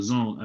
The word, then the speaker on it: DAZN: It's called the Zone app. You gotta download it on your phone. Yeah, it's DAZN. It's pronounced Dazn, but I'm pretty sure if you